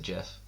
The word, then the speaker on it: GIF: can't believe like why why is it gif guh what do do you but the guy who made it the guy who made the gif said you pronounce it jeff yeah and jk rowling's